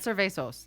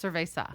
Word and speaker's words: cerveza: some here Mesa yeah not serve a sauce it's cerveza we have so I